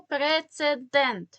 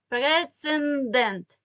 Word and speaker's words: прецедент: вживайте правильно наступне слово прецедент це іншомовне слово але знов таки помилка багатьох в тому що вимовляють і відповідно пишуть його не правильно пишуть через н прецендент немає в середдині слово букви н тобто прецедент звертаю вашу